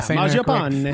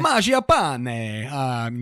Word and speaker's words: Mangiapane: One of my pickups last week was the Italian sniper Mangiapane. Is that right? Yeah, Mangiapane. Mangiapane. You have to say it like that, or he's not allowed to be on your team.